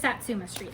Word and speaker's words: Satsuma Street: a Mill Hill kit but it's it's just Satsuma Street look I said it right Nina I said